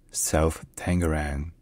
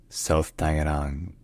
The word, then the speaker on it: South Tangerang: residential and Commercial development in English it's sometimes pronounced self tangarang but a more accurate pronunciation would be self Tang self Tang self tangang all right if you enjoy learning our pronunciations